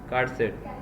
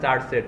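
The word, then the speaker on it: charset: info এটা কিন্তু তো এটা উচ্চারণটা কি হবে এটা কার সেট অনেকেই বলে চার সেট ঠিক আছে এজন্যই বললাম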